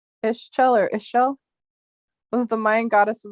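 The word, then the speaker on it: Ixchel: x g s c h e l it's pronounced ishel ER ishel was the Mind goddess of the moon of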